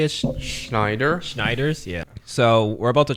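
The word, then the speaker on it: Schneiders: Schneider.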